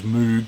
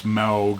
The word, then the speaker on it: Moog: So it's got, but played with the, I always thought it was Moog, but it's Maug apparently. It says it on the back. That's how you pronounce it. What does it say? Yeah, the vowel sound is like Mao instead of rather than Moo.